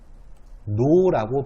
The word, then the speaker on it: 종로: 종로라고 발음이 될 겁니다.